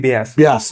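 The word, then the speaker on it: Beas: after vavas vas became basas they pronounce it as Bas you know V and B are interchangeable in Hindi right so uh it's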